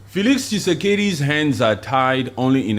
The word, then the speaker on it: Tshisekedi: I mean, Tshisekedi came in there when Am I pronouncing it right? Say it. What did you say? Felix Tshisekedi?